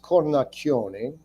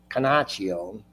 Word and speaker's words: Cornacchione: So I have my real last name is Cornacchione, CORNACCHIONEQUASTUVWXYZ. And in Ohio, they pronounce it Canaccio. And my dad once said, "Why do you pronounce your name Cornacchione?" And I said, "Well, because that's what it is."